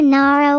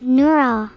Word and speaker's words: Neuro: It's either Naro or Naro. If I ever see a single one of you pronounce it as Nuro, I will destroy you.